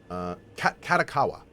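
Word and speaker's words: Kadokawa: It's Katakawa. I think it's how it's pronounced.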